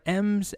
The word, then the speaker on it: em: parent's width and height next up we've got m's and rams next up we have two units